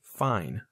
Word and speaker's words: fine: is f i n the E that we added to the end of the word changed the way we pronounce the i i is the long